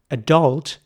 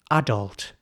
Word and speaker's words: adult: So it's not adult, that would be the American way, it's adult. So in British English, this word is in fact pronounced adult.